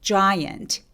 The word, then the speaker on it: giant: 자, 입술 쭉 내밀어서 큰 거 발음해 볼게요. giant. 자 아니고 입술 쭉 giant 이렇게요.